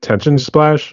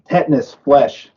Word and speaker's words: Tetanus Flesh: Actually, the one band you're mentioning, is it Tension Splash? Is that how you pronounce it, or something else? Tetanus flesh.